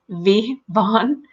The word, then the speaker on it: Vaughn: The name Vaughn with a V, Vaughn. You can see how my lips and teeth are touching.